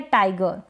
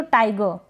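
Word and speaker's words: tiger: चलेगा अर या अ तो जैसे ये है टाइगर क्या है टाइगर अब टाइगर यहां तक टाइगर ऐसे बोलेंगे ना ये दोनों ही मैंने मेंशन किए है दोनों प्रोनंसिएशन ठीक है और ये अगर करेक्ट देखें तो टाइगर इस तरीके से बट हम प्रोनंसिएशन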